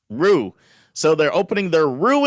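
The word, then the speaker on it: Roux: saying this wrong r-o-u-x how would i pronounce that dave rooks rocks roof roo is that in france rue so they're opening their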